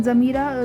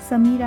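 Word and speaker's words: Samira: to exercise ठीक है जमीरा ज से प्रोनाउंस होगा ठीक है समीरा नहीं होगा समीरा इंडिया में होगा अगर हम जर्मन सीख रहे तो एस जो है वो ज में कन्वर्ट हो जाएगा जमीरा जी जैसे हमने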